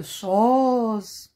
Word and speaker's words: choses: De choses. Deux lettres muettes aussi. E et S.